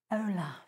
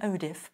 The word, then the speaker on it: Olaf: Let's move on to Elsa and Olaf. I always get his name wrong. I always want to call him Odif, but that's a fabric spray, or Ulfa.